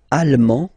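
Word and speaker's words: allemand: masculine or feminine britan Alm Alm okay same thing here okay you don't pronounce the final D but then you pronounce it here for the feminine form Al okay Al Al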